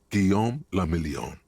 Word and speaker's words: Guillaume le Million: Guillaume le Million. Oh, is this France? If it doesn't rhyme, you're not pronouncing it right.